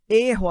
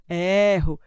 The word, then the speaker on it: erro: este tipo de pronúncia gosto consolo e erro fechado são fechados a gente faz assim biquinho fechado e aqui é o bico aberto eu gosto eu consolo e eu erro então são sons abertos sem o acento lembrem